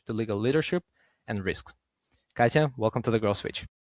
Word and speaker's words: Katia: Katia, welcome to the Grow Switch.